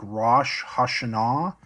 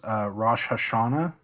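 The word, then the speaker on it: ראש השנה: For this, you can think Rosh Hashanah. Modern Hebrew says Rosh Hashanah. But again, biblical Hebrew accented the final syllable.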